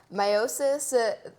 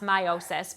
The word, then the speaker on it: meiosis: always pronounce it like i like really enunciate the e um it should be pronounced meiosis but you gotta remember